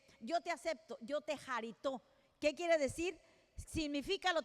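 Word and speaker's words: χαριτόω: La palabra aceptos en el original griego es jarito, jarito, porque tiene acento en la O.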